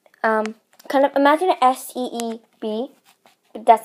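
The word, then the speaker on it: سیب: And so the next one is apples, and we call apple seeb. Kind of imagine S-E-E-B, but that's not how it's spelled, but just kind of imagine it like that.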